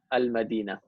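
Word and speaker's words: المدينة: For example, here you see how there is a sukun on lam. That indicates that you pronounce the lam, al-Madina. Okay.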